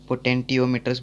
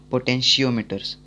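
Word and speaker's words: potentiometer: ज़्यादातर के लोग इसको पोटेंटियोमीटर्स बुलाते हैं, लेकिन इसका प्रोनाउंसिएशन वो गलत है। इसका प्रोनाउंसिएशन है पोटेंशियोमीटर्स।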